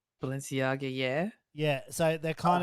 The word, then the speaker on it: Balenciaga: at eurovision wearing let's see if i can pronounce it's right there's sneakers they're called ballon ciaga balenciaga yeah yeah so they're kind of like really